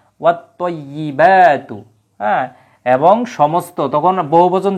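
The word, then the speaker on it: وَالطَّيِّبَاتُ: তো সূর্যাক্ষর থাকার কারণে কিন্তু আলিফ লামের উচ্চারণ হবে না, এবং তায়ের উপরেই একটা তাসদিদ চলে আসবে, অর্থাৎ এটা মোসাদ্দিদ হবে তখন ওয়ার্ডটা, হরফটা। তখন কি হবে, আত্তয়্যি, ওয়াত্তয়্যিবাতু, ওয়াত্তয়্যিবাতু।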